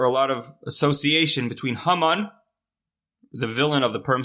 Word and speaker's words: Haman: Haman is did you from, I guess, right? Hamin ha'etz. But the word Hamin, if you pronounce it differently, is Haman, right?